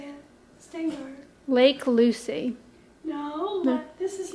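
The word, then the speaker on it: Shteyngart: I can't pronounce his name. Gary Stengard, I think. Stengard? That's how you say it. Stengard.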